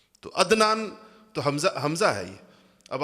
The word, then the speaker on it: عدنان: ہم تلفظ نہیں کرتے۔ مثلا میرا نام عدنان ہے، لیکن آپ میں سے کوئی بھی مجھے عدنان نہیں کہے گا، عدنان کہیں گے، حمزہ سے کہتے ہیں سارے کے سارے لوگ۔ تو عدنان تو حمزہ ہے یہ۔